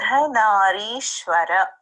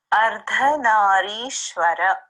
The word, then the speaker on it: Ardhanarishwara: Ardhanarishwara. Okay, so part of the reason I don't pronounce it is because it's Sanskrit and it's pronounced differently all over India depending, you know, on the dialect.